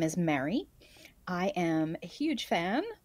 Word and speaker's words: Mary: Which in the United States of America, most people pronounce like your name in Lord of the Rings, M-E-R-R-Y.